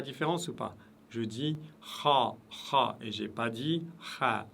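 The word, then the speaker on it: خ: La lettre ha, cette fois-ci qui se prononce toujours lourde, toujours, aucune exception.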